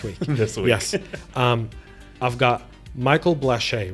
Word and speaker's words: Blache: I've got Michael Blache, right?